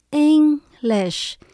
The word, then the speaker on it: English: Từ English chúng ta nhấn âm đầu tiên. English.